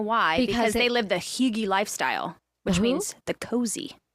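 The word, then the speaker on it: hygge: Because they live the Higgy lifestyle, which means the cozy.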